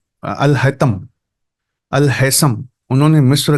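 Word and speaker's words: Al-Haytham: गगल करके देखना चाहिए अल Haisam H ए वाई टी एच ए एम यह स्पेलिंग लिखते हैं कि सुनाई दे व अल हैसम है अल हैसम ने जब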